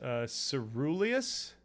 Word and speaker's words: coeruleus: Pronounce. Whoa, it's a ceruleus?